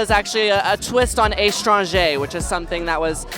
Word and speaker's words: Estranja: back in the 1980s so I just kind of flipped it on its own to rhyme with laganja yeah no one's forgot